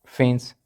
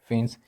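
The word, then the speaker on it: faience: फेंस, ये spelling FAIENC, फेंस, ये basically आप इसको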